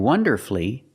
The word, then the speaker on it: wonderfully: But with words like these, masterfully, beautifully, and wonderfully, you have 2 syllables before F-U-L-L-Y, but the stress is on the 1st syllable. In this case, the U is silent.